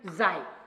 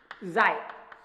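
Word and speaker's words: psi: And next one and very important is xi. And xi બચાય. Clear? It is xi. But P is silent.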